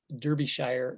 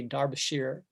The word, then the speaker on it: Derbyshire: you know but like here in america we would say it derbyshire but in the in the film they always say dar bashir right it's like it's